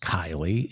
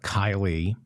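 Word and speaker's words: Keighley: In England, Mohammed Nizam, the Conservative Party's mayor of Kiley, I think it's pronounced Kiley, in West Yorkshire, has resigned after he had to apologize for posting a pro-Pride Month photograph on his Facebook page.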